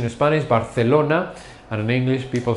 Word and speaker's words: Barcelona: Notice the pronunciation in Spanish, Barcelona. And in English, people say Barcelona.